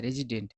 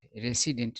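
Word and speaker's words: resident: और इसका उच्चारण होता है रेजिडेंट, रेसिडेंट नहीं, ठीक है ना।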